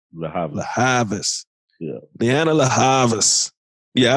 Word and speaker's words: Lianne La Havas: Lianne La Havas? La Havas.